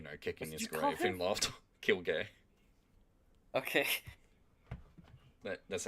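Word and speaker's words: Kirge: death or you know kicking his gra and kill gay okay that's how you say his name apparently you said kill a gay you you literally said kill a gay I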